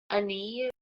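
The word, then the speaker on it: Áine: The deity is Brigid, Bellona again, and Ani. It's spelled A-I-N-E.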